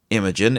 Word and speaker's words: Imagen: Imogen is spelled IMAGEN.